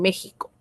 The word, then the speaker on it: México: Y la X, esta X de acá en realidad es la representación del sonido de la J, así como en Jimena, así como en México.